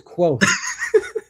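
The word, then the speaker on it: Kvothe: Cavoth that took me took me about half a name of the wind to realize, oh, it's quote.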